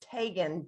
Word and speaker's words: Tegan: which is like the midwest city area correct that's correct but it's pronounced tagan just like megan really i did not